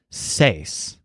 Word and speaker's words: seis: The number 6, which kind of looks like a twisted upside-down microphone, is pronounced as seis.